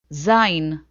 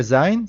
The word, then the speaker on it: זין: Zain. The letter Zain sounds like Z.